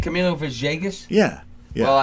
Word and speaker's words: Villegas: Well, Is it the V, like the V is almost like a B. Kind of It's like a V. Camilo It's a V and a B Villegas?